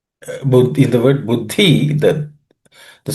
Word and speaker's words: Buddhi: There are no aspirated consonants. Buddhi. Buddhi.